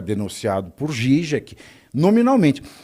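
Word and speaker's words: Žižek: Mas fora você vê o Mangabeira Unger, você vê o Slavoj Zizek, o Zizek, que é a pronúncia correta, você vê o Alain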